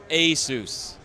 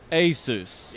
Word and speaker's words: ASUS: yeah yes so say it with me together ASUS ASUS yeah so it's something we're constantly trying to